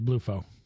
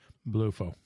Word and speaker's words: BluFo: Apparently it's Bluefo. Yeah, so BLUFO. Bluefo. Bluefo. But it's not blue, which is...